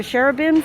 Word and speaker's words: cherubim: Is that how you say it? Shrubs or cherubims? I think it's cherubims.